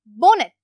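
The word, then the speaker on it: bonnet: Adapt, skilled, बोनेट, बोनेट के अंदर जो टी वर्ड है ये है साइलेंट, इसको अंडरलाइन कर देती हूँ, इसको पढ़ते हैं बोनेट।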